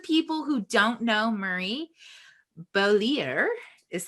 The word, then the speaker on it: Beaulieu: So for those of people who don't know Murray, Beaulieu is how you pronounce his name.